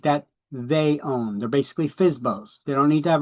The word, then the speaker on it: FSBO: That's how we pronounce it. FSBO. FSBO.